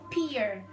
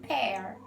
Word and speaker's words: pear: pronounced this is like peer but the correct pronunciation it's supposed to be pear it's like a bear and pear can you repeat please